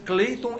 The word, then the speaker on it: Cleiton: Entra no Google e escreve Cleiton, com C-L-E-I-T-O-N, não é Clayton, é Cleiton mesmo, do jeito que se fala, se escreve Cleiton com H.